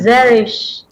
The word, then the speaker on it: Zerish: Paano ba ibigkasin yung pangalan? Zerish. Zerish. Zerish. Zeris Lu Napakagandang Nakila. pangalan. Ay, Parang unique. cherish. Oo, cherish. Cherish.